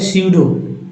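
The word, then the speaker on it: pseudo: है P silent हो सूडो में पी साइलेंट है साइकोलॉजी में पी साइलेंट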